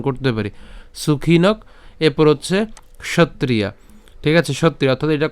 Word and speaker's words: ক্ষত্রিয়া: কেমন করা উচিত সুখীন ক্ষত্রিয়া ঠিক আছে ক্ষত্রিয়া ক্ষত্রিয়া এই ক মূর্ধন্য এবং ত্রিয়া উচ্চারণ করছি একসাথে ক্ষত্রিয়া ঠিক আছে এরপর